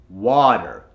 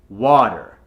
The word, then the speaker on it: water: out as water right that R sound in wa has to become an ah so for example it's going to become water w-a-h-t-e-r and remember of course to get that ER sound at the end water so I'm going to